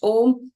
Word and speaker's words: Om: You inhale, and then as you exhale, you chant Om with the 3 syllables A, U, Ma. And if you're able to feel the vibrations as you say Ma, that's when you know you're doing it right.